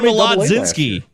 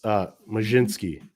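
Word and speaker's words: Mlodzinski: Yeah, I guess Carmen Molodzinski. Carmen Molodzinski? It's Majinski.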